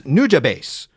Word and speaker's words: Nujabes: Don't know how to pronounce his name. Okay. But the guy that you will be listening to is Nujabase.